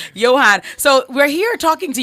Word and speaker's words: Yohan: win i don't care what it was say johan so we're here talking to johann blake this